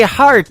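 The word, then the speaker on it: Harte: That is the latest single from my good friend Robbie Hart. It is H-A-R-T-E on her last name, and that is called Heart in Two Places. Yeah, just like your heart.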